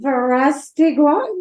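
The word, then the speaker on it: Verástegui: butcher his last name, Verastegui. Yeah, you butchered it. Or Gui. It's Verastegui. So pronounce it how it's supposed to be.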